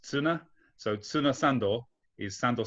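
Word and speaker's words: ツナ: Actually, Piotr, sand is suna, which sounds like tuna, which is pronounced tsuna.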